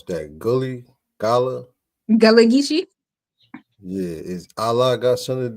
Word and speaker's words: Gullah Geechee: How you pronounce that? Gullah? Gullah Geechee.